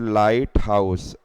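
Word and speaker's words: lighthouse: और उसको बोलते हैं लाइटहाउस कोस्टल एरिया में जहां सी होता है उसके कोस्टल एरिया में एल आई जी ह टी जी ह साइलेंट हो जाता है तो लिट लाइट हाउस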